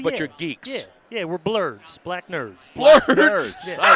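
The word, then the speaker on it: Blerds: Yeah, we're blurds, black nerds. Blurds. Yeah. I like that. Blurds. Blurds. That's spelled B-L-E-R-D-S.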